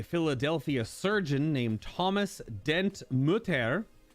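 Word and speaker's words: Mütter: surgeon named thomas dent mutter i guess that's how it's pronounced could just be mudder or no but it's a it's a u with two dots over it an unload i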